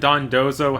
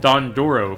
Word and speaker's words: Dondozo: thing going on here, and first we fight Dondozo, which might be one of the most mispronounced and misspelled Pokemon I've ever seen somehow. Seeing lots of Dodonzos like the Dodongos from Legend of Zelda, and I called it Dondoro for some reason.